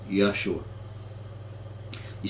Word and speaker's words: Yeshua: jesus in english he felt that the name yeshua should be pronounced correctly yah sure you seeking is the name of allah allah is